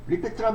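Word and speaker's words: REPT: 함수 리피트 함수는 뭐냐면 리피트란 말이 무슨 뜻이에요? 리트앤트 그니까 듣고 반복하세요 이거죠. 반복한다 그런 뜻이에요. 이제 리피트를 갖다가네 글자로 줄여서 알리픽트로 이렇게 표기하고 있는데 리피트라고 읽어 주시면 돼요. 그냥 리피트.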